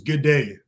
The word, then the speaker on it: Goode: So it was Good Day, she pronounced it.